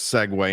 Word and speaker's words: segue: a Segway my friends we're going to segue into the Saints but out before we segue right in the middle of that segue by the way which is spelled s-e-g-u-e for those for the spell